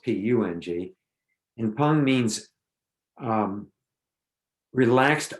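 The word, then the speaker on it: peng: pong so it's pronounced always pronounced p-u-n-g and pung means um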